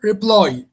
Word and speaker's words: reply: And what about intend, cancel, prefer, reply? Intend, cancel, prefer, reply. I think it's reply. Reply, you stress the second syllable.